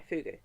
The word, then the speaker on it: fogou: So we are now inside one of the entrances of the fugu. So pronounced even though it's not uh written fugu, it's it's pronounced fu double o double i fugu.